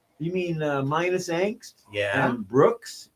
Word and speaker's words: BRX: mean minus angst yeah Brooks BRX you pronounce it Brooks I mean if you're